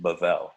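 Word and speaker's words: בבל: right this is babel this is where it's actually pronounced bavel right okay um so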